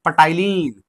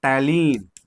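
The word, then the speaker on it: ptyalin: पढ़ते हैं पटाइलीन। लेकिन बोलते हैं टलीन। स्पेलिंग थोड़ा देख लेना भाई। लिखते हैं पटाइलीन लेकिन पढ़ते हैं टाइलीन।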